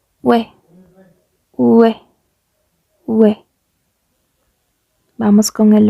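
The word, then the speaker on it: ㅚ: O, E. Ustedes van a decir es OE como se pronuncia, pero no. Igualmente tiene este cambio en la pronunciación que sería como UE. UE.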